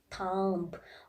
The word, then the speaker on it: thumb: comes after A, in that case also B is silent. Like comb, tomb, limb, thumb, all the B is coming after M.